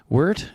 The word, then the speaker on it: Weidert: Weidert's how you say it, unless you're from Germany, which is Weidert, but yeah.